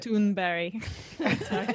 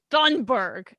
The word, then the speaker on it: Thunberg: I think that's the actual pronunciation. And I used to say that in videos, and I'd get like messages, "It's Thunberg." I'm like, bitch, it's not.